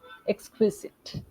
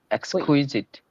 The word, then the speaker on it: exquisite: it becomes q but when I pronounce it it becomes qu qu like how we say quick quick so that same sound should come in the middle xit Exquisite exquisit okay can you